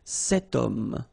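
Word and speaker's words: homme: Remember ash is not pronounced. Okay. So you've got the sound of O at the beginning of this word. Okay. Setum.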